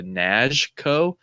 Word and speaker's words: Knazko: get the correct pronunciation I heard him say like with his accent like almost like a nashco which I was like